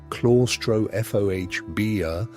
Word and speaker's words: claustrophobia: Many of them developed what we would now call severe anxiety or claustrophobia, pronounced klaw-stro-foh-bee-uh, or what their parents simply called nerves.